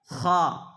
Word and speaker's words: خا: ثا، سین، شین، صاد، ح، ح، ہ، ہ، خا، خا، خا، کھا نہیں، خا، خا، کاف، قاف، تلفظ پہ بالکل آپ کو توجہ دینی ہے۔